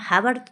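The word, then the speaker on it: hour: एच ओ यू आर एच से start लेकिन जब अपन बोलेंगे तो अब आवर थोड़ी ना बोलते आवर बोलते हैं ना तो आवर अपना साइलेंट वी हो रहा है इसीलिए यहां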